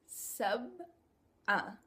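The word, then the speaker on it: سبعة: If you guys read it right here, it's sab'a. Once again, we have that letter ayn that's coming at the end of the word, just like we had in the number 4. Arba'a. In 7, we have sab'a.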